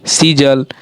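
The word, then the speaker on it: seize: हो रहा है, बिलीफ, सीजल, सीज, ठीक है, सीजल नहीं, सीज।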